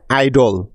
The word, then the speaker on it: idol: একই রকমভাবে আইডল, IDOL, আইডল, এই শব্দটিও কিন্তু VCV রুলে পড়েছে, তাই আই এর লং সাউন্ড আই হচ্ছে এই শব্দটিতে।